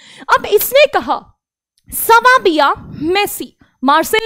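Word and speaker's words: merci: मेसी, मेसी, ये सबसे पहले वर्ड सीखते हैं लोग, मेसी यानी कि थैंक यू। जी हाँ, ये आपका जो प्लेयर है ना मेसी, उसी की तरह इसकी प्रोनाउंसिएशन होती है मेसी।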